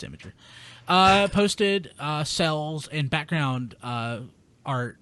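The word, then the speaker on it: Imgur: you guys were like, "How do you say this?" It's Imager. Well, it was Rob who wasn't familiar with how to say it. Oh yeah, I was like, no, it's Imager.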